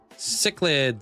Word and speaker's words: cichlids: Chillid? Chillid? Yeah, how do you say that again? Cichlids, cichlids.